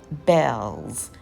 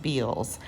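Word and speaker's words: Bealls: So I needed a few things for the kitchen, and I went to a store called Bell's, even though it looks like it's pronounced Beals.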